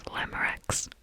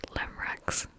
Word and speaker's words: Glamorax: It's glamorax. So many people I see that just skip the X, put the X back. It's glamorax.